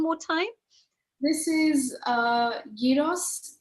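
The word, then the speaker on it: gyros: time this is uh Yos it's it's spelled g y r oos and it's traditionally a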